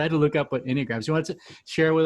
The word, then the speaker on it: Enneagram: One of the other things that you mentioned, I'm not sure if I pronounce it right. Is it enneagrams?